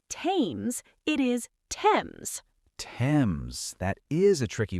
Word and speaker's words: Thames: You say it like this, Thames. The H is silent, so it is not Thames, it is Thames.